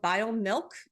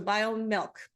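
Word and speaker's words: BioMilq: It's formulated by a company called BioMilk, and that's spelled B-I-O-M-I-L-Q, so BioMilk.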